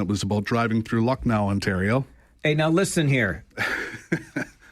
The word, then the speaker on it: Lucknow: I can't share it on the air, but it's a word that rhymes with luck. Okay. That is a 4-letter word. Right. You can't say on the radio. Luck. Got it? Yeah. So we say blank no, it's luck no, because that's what the